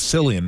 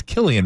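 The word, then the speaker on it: Cillian: Murphy who is uh I always thought it was silly and Murphy by the way it's Killian Murphy I didn't know that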